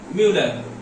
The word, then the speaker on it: Mulder: अब who discovered amino acid, तो भैया डिस्कवरी इसकी की थी म्यूलर, ठीक है, स्पेलिंग में MULDER होती है लेकिन पढ़ते हैं म्यूलर, ठीक है।